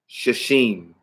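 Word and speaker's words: שישים: And you would pronounce that Shashim. Because Shesh is 6.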